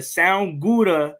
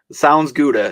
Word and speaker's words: Sounds Gouda: Jordan Olson, the Sound Gouda. Did I say it right? I was messing it up all day. If I didn't say it right, you take it away. Sounds Gouda.